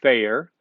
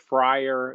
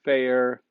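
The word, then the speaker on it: Feyrer: it's called it's pronounced fair and um f-e-y-r-e-r it's not friar it's not fire it's fair boy can you sense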